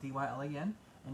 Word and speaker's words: Dylan: and dylan is spelled d-yl and you guys can follow me on facebook at dylan people toys call me but it's not dylan um so anyway you